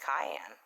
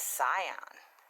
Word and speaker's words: cyan: I mean, for the longest time, I was pronouncing cyan wrong. My 13-year-old grandson had to correct me, because I was calling it cayenne, like cayenne pepper. But I said, Grandma, it's cyan.